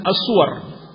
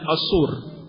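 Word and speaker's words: الصور: Tapi ini lemah, sebab kalau jamak surah maka akan dibaca dengan as-suwar. bukan as-sur. Padahal dalam ayat dan dalam hadis bacanya adalah as-sur.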